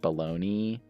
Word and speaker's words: bologna: the city in english is spelled the same it's pronounced baloney and often spelled baloney either spell either spelling